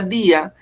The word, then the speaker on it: día: Recordemos que aquí se está formando un hiato, porque la I, miren que si usted pronuncia día, está pronunciando en la I el acento.